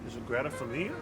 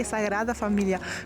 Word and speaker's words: Sagrada Familia: Sagrada Familia? No, you have to say Sagrada Familia. Girl, you got an A in Spanish, but you flunked and roll your R.